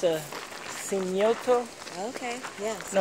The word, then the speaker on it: cenote: It's a cenote.